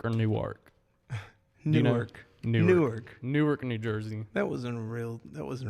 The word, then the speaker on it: Newark: week in New York New Jersey so he pronounces it new work on New York New York Newark Newark New Jersey that wasn't real that was